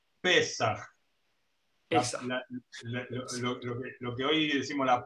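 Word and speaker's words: פסח: Es el mismo vocablo que en hebreo se pronuncia Pesach.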